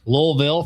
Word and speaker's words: Louisville: Yeah, you know, Karen and I'll be in Louisville. Gotta say it right. Louisville for a weekend, having some adventures.